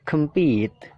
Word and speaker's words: compete: yang kedua ya believe yang ketiga compit jadi pitnya itu Ditekan kemnya itu kan dibaca